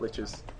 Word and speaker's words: lich: If you go to like a different area, they call them likes, not liches.